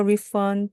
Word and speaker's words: refund: Can I get a refund, please? Can I get a refund, please? 이때 n 다음에 나오는 d가 힘이 없기 때문에 그냥 refund까지 안 하셔도 되고요. 그냥 refund. d는 살짝만 발음해 주시면 됩니다.